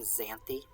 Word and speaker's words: Xanthe: xanzi um there is there is at least one ancient greek character named xanthe that's how it's pronounced in english but um uh that